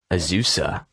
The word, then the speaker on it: Azusa: do you say the school is it as azuz azusa azusa wow i think it's literally the city so